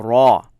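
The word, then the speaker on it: ر: you are all set now you have a raw raw ok raw now of course it corresponds to our are but it is a little bit heavier raw raw right like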